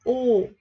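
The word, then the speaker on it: ㅗ: Không phải là chữ ô của mình ha, mà là U. Cái miệng mình phải đưa ra ngoài một chút chứ không phải ô. Ở Việt Nam mình ô rất là thoải mái, nhưng mà tiếng Hàn là U, là phải đưa U, khẩu hình miệng là chữ U ha.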